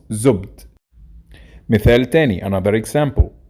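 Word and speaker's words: زبد: By the way, in Fusha, it's pronounced zubd.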